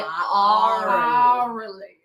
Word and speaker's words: Aurally: And I have to make sure that I pronounce that correctly. Orally, not orally. Aurally.